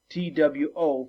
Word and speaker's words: two: the word to whoa you actually don't say the w right but that's how it's spelled t-w-o for the number two